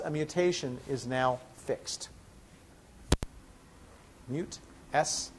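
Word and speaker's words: MutS: the mute l h slh system i'm sorry mute s l h that recognizes and mute by the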